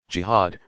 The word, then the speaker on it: jihad: what is jihad you jihad pronounced GHA ad comes from an Arabic